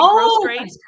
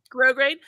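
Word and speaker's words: grosgrain: so that's where I sometimes I will add grow grain ribbon to the inside of my garments to hold the weight of the Garment up here grow grain ribbon gross grain it's spelled like gross grain grow grain um and so you add that to like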